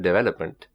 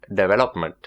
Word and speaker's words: development: So let's take the word development, for example. In the Indian accent, some people pronounce it development or development, okay? And in the British accent, it's pronounced development. Development. Development. So in the Indian accent or the British accent, the stresses are placed differently, and this might make